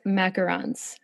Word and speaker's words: macarons: So, you and your daughter, Nora, have started this business called Nora's Macarons, right? You said it right. I'm so impressed. Good job. Well, because there is a difference between macarons and macaroons, right?